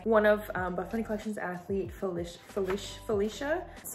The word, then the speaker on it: Felicia: So this one is inspired by one of Buffbunny Collection's athlete, Felicia. That's how you pronounce her name.